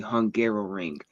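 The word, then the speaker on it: Hungaroring: don't know the name, it is called the Hungarrow Ring. It So it does sound like I was just mispronouncing Hungary trying to say it a second time.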